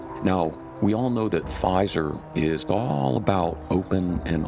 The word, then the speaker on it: Pfizer: messenger RNA inoculations a name of the vaccine maker rhymes with geyser tell your friends about this one especially your blue pill Mass informed friends now we all know that Pfizer is all about open